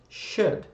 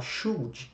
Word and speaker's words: should: Should, tá bom? Tá aparecendo aí para vocês como é que se escreve. Toma muito cuidado, que muita gente gosta de falar should. Should. Não é nada disso, gente. A pronúncia desse verbo é should.